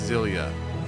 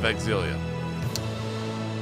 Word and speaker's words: Xillia: know it's not zilia I was told the x is pronounced and thus it is named Tales of exilia tales of exilia is